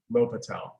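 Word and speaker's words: L'Hôpital: L'Hopital. At first, when I first saw it, that said hospital, but The hospitals, right? La Hospital. It's spelled La Hospitals, but it's L'Hopital.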